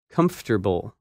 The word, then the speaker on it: comfortable: That word is uncomfortable, and its opposite, comfortable. When you say this word, you do not pronounce some of the letters that you see in the written word.